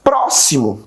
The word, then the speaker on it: próximo: Próximo, também o pró de próximo também é pronunciado com mais força.